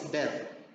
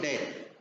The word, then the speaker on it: death: for my school practice for me I was pronouncing it dead then the senior T of C came to me they didn't come to me but they just told me they don't pronounce it death they say death so I was pronouncing